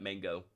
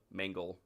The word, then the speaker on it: Mangle: Not not messed up all the time, but like I didn't mean to say it like that, but yeah, we saw Mangle, not Mangle. Not Mango. Mangle.